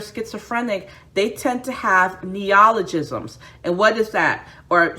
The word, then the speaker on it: neologism: they tend to have neologisms and what is that or some some um pronounces neo guys i'm sorry my pronunciation is horrible neologism so i'll spell it